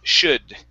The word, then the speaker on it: should: here is should the l is silent instead of shield it's should should there you go good